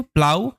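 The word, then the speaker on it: plough: এই দুটো মানেই কিন্তু প্লাউ এর মানে হয়। আর এখানে ও ইউ জিএইচ একত্রে আউ সাউন্ড দিচ্ছে, এখানে জিএইচ সাইলেন্ট, জিএইচ এর উচ্চারণ হচ্ছে না, এই কথাটা একটু মাথায় রাখতে হবে।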